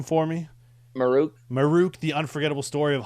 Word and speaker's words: Maruk: Um, Dennis, pronounce his name for me. Maruk.